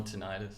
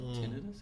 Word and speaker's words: tinnitus: period with really good hearing like no more tinnitus or tinnitus how do you say it depends how many beers i've had it's tinnitus after two beers but before that's ten of us yeah it makes me smarter um they say